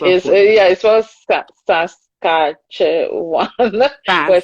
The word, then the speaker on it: Saskatchewan: what would you say it used to be saskatchewan uh because they they just take everyone is